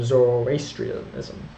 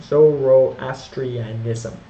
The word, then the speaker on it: Zoroastrianism: Sanskrit pardon me religion was Hinduism Buddhism and zorri ISM I always pronounce that wrong Zoroastrianism pardon me and population estimate with several to